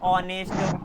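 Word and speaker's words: honest: आवर, ऑनेस्ट, ऑन, कुछ इस तरीके के सारे सारे एग्जांपल हो गए। तो एच के आगे अगर ओ आ जाए तो एच साइलेंट होगा, और एच के पहले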